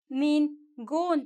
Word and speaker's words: ningún: no me gusta nú ningun that ends with n and the accent el acento en la u ninguna porque este es